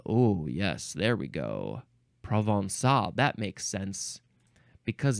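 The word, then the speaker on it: Provençal: it's Pro how do you say this word provol I need I need the pronunciation of this word standby uh provinal pronunciation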